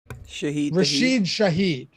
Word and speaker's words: Rashid Shaheed: I know it rhymes. Yeah. His name is Rashid Shaheed.